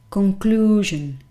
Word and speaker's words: conclusion: the word conclusion conclusion very interestingly enough that particular letter is pronounced in a very similar way to how you would pronounce it in spanish for example conclusion because this is the stressed syllable so it is a strong vowel conclusion conclusion as you